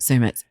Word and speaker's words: Sumit: But a lot of people think it's Summit, but Sumit.